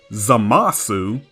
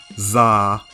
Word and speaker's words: Zamasu: The katakana for his name is Zamasu. However, the oo goes through a process called vowel devoicing.